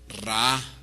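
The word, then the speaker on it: רע: Y la palabra malignos o malhechores, que es la que se traduce al español se pronuncia en el hebreo Ra.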